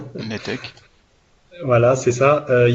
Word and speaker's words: Netec: Webinaire Netec ou Ntec, je sais jamais comment on prononce. Netec.